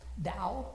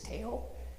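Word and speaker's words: Tao: A quick one to start with is um Dao, which is spelled T AO, which most of us pronounce as Teao.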